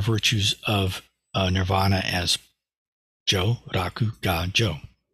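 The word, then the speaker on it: jō raku ga jō: of uh Nirvana as Joe Raku God Joe um of course the Buddha didn't speak Japanese but if he did uh that's how he would have pronounced those Chinese characters he didn't speak Chinese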